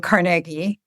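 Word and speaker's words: Carnegie: and the Rockefellers in CargI. Full disclosure, I went to CargI Melon and they teach you how to pronounce it that way.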